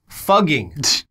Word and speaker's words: Fugging: Fugging. F-U-G-G-I-N-G. What? Fugging. Why? That's so stupid. I don't think that this is better. So it's apparently a better written representation of how the residents actually pronounce the name.